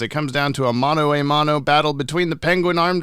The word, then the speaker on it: mano a mano: Mano a mano.